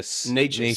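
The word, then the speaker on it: Nečas: Necas.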